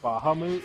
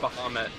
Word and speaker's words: Bahamut: Uh have you ever heard of I think it's called Rage of Bajamoot? It's like this. It's one of those uh smartphone games that's based around collecting cards. I'm pretty sure it's pronounced Bahamut, but it's what?